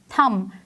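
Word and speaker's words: thumb: इसको में बी जो है वो एक साइलेंट लेटर है, हम बी को प्रोनाउंस नहीं करते, so that's why इट is called थम।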